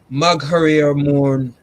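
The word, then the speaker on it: Magheramorne: So okay, the house is Magriemore House. Hold on, what's it called? Magriemore. Spell it for me.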